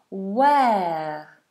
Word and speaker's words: where: And an important note is the W is made with rounded lips. W where. And you'll notice that H is silent. We don't say where like you may have heard some people do, but that's wrong. We do a W sound.